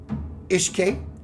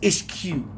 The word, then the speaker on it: Ishk: So she wrote a song and it looks like it says Ishq, but she corrected me, it says Ishk.